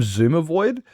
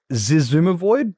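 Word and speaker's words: Xisumavoid: provide I call him Zuma void. And it's clearly Zizumavoid, but I call him It's not Exuma. It's Zumavoid. I don't even pronounce the X at the start.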